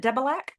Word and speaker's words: Debelak: Is it Debilac?